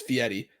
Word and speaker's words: Fieri: Actually, it's Fieri, but yes, that one. It's Guy Fieri. I 1000% promise you it's Fieri, and he's very sensitive about it.